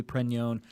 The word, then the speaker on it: Pregnon: But I think technically it's supposed to be Pregnon.